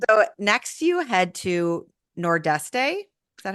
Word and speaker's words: Nordeste: So next you head to Nordeste. Is that how you say it? Yes, which I believe if you live in the Azores, you say something like Nordeste or maybe Nordeste.